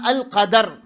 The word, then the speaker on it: القدر: അതിൻ്റെ ഏറ്റവും പ്രസിദ്ധമായ ഉച്ചാരണമാണ് ഫത്ഹ് കൊണ്ട്, അൽ ഖദർ. ദാലിന് എന്താണ്? ഫത്ഹാണ്. എന്നാൽ അൽ ഖദ്ർ എന്ന രീതിയിലും വായിക്കാം, ഭാഷയിൽ അങ്ങനെ വായിക്കാം.